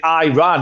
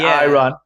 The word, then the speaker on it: Iran: off by all the Iranian journalists for saying I run so I was a political funny story so I was a political major uh political science major college and everyone pronounced it I ran in college like all the students but our